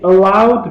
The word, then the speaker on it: allow: And they allowed me, please pay attention to the correct pronunciation. Don't say "oh," yeah, say "allow." Ow. Allow means let, permit.